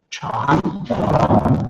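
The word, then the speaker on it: 禅: Chan. Yeah, you even got the tone right. It's a rising tone.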